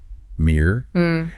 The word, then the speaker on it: mirror: The first syllable sounds like your ear. Mirror. And the second syllable is like the air in burger. Br. So, mirror.